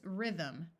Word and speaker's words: rhythm: Note that Y in the middle of a syllable has a short I sound, and this TH uses the second sound of V, so the word is rhythm.